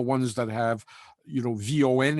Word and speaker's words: von: that have you know von in their name uh which is in german pronounced fawn you know from rudested